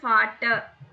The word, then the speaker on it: Vater: But actually pronounce பண்றது வந்து ஃபாட்டர். ஆர் சைலண்ட்ல முடிஞ்சிடும். ஃபாட்டர். வாட்டர். ஆர் சவுண்டே வராது, ஆவோட முடிஞ்சிடும்.